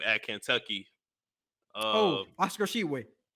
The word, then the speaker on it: Tshiebwe: Oscar Tshiebwe. Tshiebwe, that's how you say his last name.